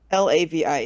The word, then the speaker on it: Lavi: spell that name? Is it Alavi? Lavi, yeah.